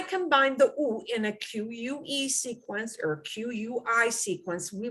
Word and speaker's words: que: happens when you see in reading q-u-e sounds like que okay and q-u-i is going to sound like key now the thing that's